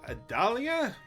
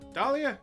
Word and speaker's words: Dahlia: and we also got a dull adalya that's how you pronounce it dahlia thank you phoenix wright's uh girlfriend